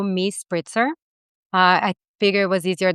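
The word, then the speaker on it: MiSpritzer: So, on Instagram and any other social media, I have the same handle, which is m i s p r i t zer. So, me spritzer.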